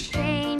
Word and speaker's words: Shane: My name is Shane. It rhymes with rain.